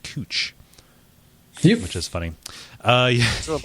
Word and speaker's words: Couch: They also have a street that's spelled couch but pronounced cooch, which is funny. Yeah. So, like, but they let people pass with that, calling that one couch.